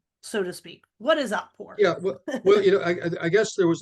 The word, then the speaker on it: Otpor: Do you know, I'm sure you know something about it, but Otpor, is that how you say it?